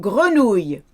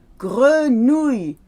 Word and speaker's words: grenouille: Now, frog is easy to pronounce, but grenouille. Ouille, ouille, grenouille. People say grenouille with a oui at the end. It's not a oui, it's a y.